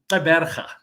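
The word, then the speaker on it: Gqeberha: It's Taberga.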